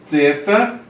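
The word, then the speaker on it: θῆτα: Eta, teta, teta, TH, think.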